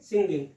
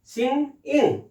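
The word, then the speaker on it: singing: यदि हमने इसको ING लगाया तो उच्चार हो जाएगा सिंगिंग, लोग बोलेंगे सिंगिंग, लेकिन यह सिंगिंग नहीं है, इसका उच्चारण है सिंग इंग, सिंग इंग, सिंग इंग,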